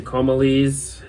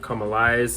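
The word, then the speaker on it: Comalies: is the band's best I know some people might point to comalese or come alive I've heard different uh pronunciations but either way that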